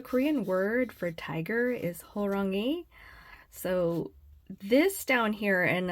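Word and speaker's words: 호랑이: this is the romanization so this actually kind of helps you pronounce the actual um Korean letters that you see up here so it's horangi so anyway so that's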